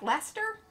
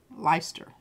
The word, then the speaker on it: Leicester: Like Lester? Leicester.